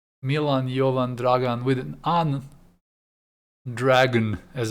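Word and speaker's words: Dragan: us to call him dragon dragon like with wings and then spits fire but he's actually dragon in serbian d-r-a-g-a-n so one letter away but because americans don't pronounce names they were like dragon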